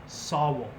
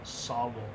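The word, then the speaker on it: sāwol: In fact, the word soul, S-O-U-L, is the modern pronunciation of the Old English Sawul. There is a rune, Sawul, S-A-W-U-L, and it looks like an S.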